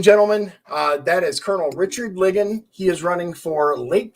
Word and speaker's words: Ligon: I keep mispronouncing your name. It's Ligon, right?